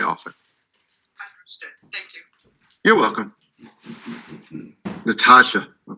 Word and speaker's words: Natasha: thank you you're welcome natasha and excuse me if i'm pronouncing that wrong hi can you hear me yes you are pronouncing it correctly my full name is